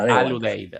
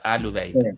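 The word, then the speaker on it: Al Udeid: Otra más por aquí, Fernando, eh en la base precisamente de Qatar, la base militar eh aérea de Abu Adeid Uite. Mal pronunciado. Al Uude. Alude. Bien.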